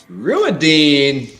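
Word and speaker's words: Rhuidean: Ruidine. Okay. Right. Well done. Ruidine. Right. Todd, pronounce this.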